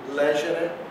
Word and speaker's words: legere: Então, aqui, enquanto aqui eu digo monere, adibere, aqui eu digo legere, defendere, quer dizer, a sílaba tônica está antes do E.